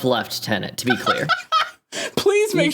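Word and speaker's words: lieutenant: but you pronounce it left tenant I have to type left tenant so that I remember to pronounce it right the Canadian rank of left tenant to be clear please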